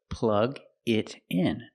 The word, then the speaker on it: plug it in: So plug it in. Pronunciation. Plug it in. The T in it changes to a fast D.